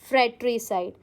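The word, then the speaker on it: fratricide: हाउ डू you pronounce it? इट is pronounced as फ्रेटरीसाइड।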